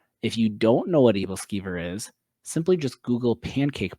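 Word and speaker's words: æbleskiver: It's pronounced evilver. Um I'm curious if anyone knows this. If you don't know what evilver is, simply just Google pancake balls.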